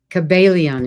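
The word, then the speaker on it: Kybalion: Kabbalion is how it's said.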